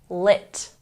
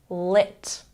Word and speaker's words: lit: syllable party party and make sure that you have a short I sound when pronouncing lit lit very good number four